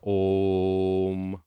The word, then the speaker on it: om: that when we sing the Mantra oh M with a long o and a short the alpha waves are